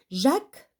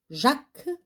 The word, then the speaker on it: Jacques: Jacques, donc le S, ça ne se prononce pas.